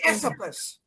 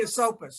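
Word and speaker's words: Esopus: it says something else we have so many mispronunciations of water some people say isoplus it's really a soapus it's the river there's a there's a town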